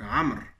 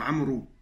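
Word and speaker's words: عمرو: C'est pour ça que dans certains pays, on peut entendre Amrou. Amrou. Donc voilà, il s'écrit Amrou, mais il se prononce Amr.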